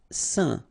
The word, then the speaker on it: saint: Saint. Okay, combination of A, I, N, phonetically will give you this un pronunciation.